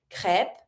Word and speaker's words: crêpes: Je mange crêpes avec sirop. Don't pronounce the P.